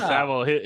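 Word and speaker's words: Savile: on inFamous child predator Jenny savle that's how you pronounce Sav yeah yeah saav his show on Jim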